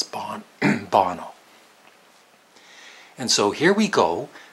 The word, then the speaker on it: Bono: Through the years, I've sometimes called him Bono because I don't know how you really pronounce his name. But of course, now I do. It's Bono.